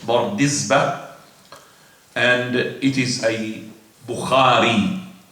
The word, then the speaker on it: Bardizbah: Now, Bardizbah, I have said it in this way because there is a difference among the scholars how to say the name, Bardizbah or Bardizbah, but I've said it according to the most authentic sources, Bardizbah, and it is a Bukhari.